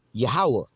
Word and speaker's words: Yahweh: His name is Yahweh in the ancient Hebrew tongue, all right?